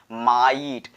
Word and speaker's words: might: हमारा लोप हो जाता है, वो भी हमारा साइलेंट ही हो जाता है। For example माइट, नाइट, टाइट, ठीक है।